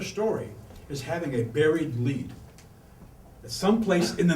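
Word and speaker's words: lede: journalism you say do you have a good lead and this is usually spelled l-e-d-e which is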